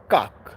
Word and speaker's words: kak: You pronounce it kak. K-A-K.